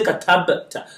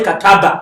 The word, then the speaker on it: katabta: I can say katabta. So long as I don't say kataba or b or boo, I just make it silent. Katabta is fine.